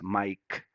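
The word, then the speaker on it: Maic: Yes, my name is spelled M-A-I-C and sounds as Mike.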